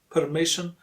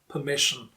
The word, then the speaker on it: permission: Me is the stronger and louder syllable.